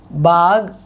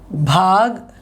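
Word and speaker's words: बाग: See here, this is baag, this is bhag, this is baag. Second part is giving the pressure sound.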